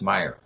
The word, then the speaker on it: Meijer: It's Meijer. Yeah. Pronounced Meyer.